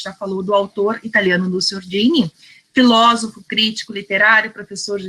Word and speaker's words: Nuccio Ordine: então, assim, agora fico até encabulada de dizer Nuccio Ordine, né, porque depois da Melina, né, complica.